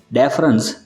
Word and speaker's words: deference: पहला जो वर्ड है डिफरेंस, जिसका स्पेलिंग है DEFERENCE। यहाँ पे इस वर्ड में आपको याद रखना है कि पूरे स्पेलिंग में सिर्फ ई आएगा, तो उसका प्रोनाउंसिएशन होगा डिफरेंस, और उसके मीनिंग से सम्मान, आदर।